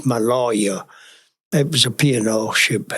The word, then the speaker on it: Maloja: But when I arrived in Fremantle, I arrived on the SS Maloja, Maloja, it's pronounced Maloja.